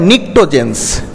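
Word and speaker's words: pnictogens: family এইটাকে বলা হয় নিক্টোজেন্স নিক্টোজেনস নাইট্রোজেন ফ্যামিলিকে বলা হয় নিক্টোজেনস পি থাকে উচ্চ থাকে বানানটা পি থাকবে সামনে একটা নিকট্রোজেন্স এরা শ্বাস রোধি গ্যাস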